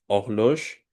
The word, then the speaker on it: horloge: Et comme vous écoutez, et je prononce pas la H.